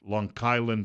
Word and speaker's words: Long Island: Hamptons on Long Island that's how it's pronounced there it's longland or longland they're hoovering up all